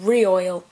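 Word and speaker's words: Rioyal: Like royal wedding, but with re-oil.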